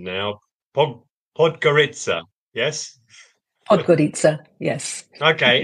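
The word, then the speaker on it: Podgorica: I think yeah so I'm gonna get my pronunciation now po pod gitaa yes pod gitaa yes okay excellent so that's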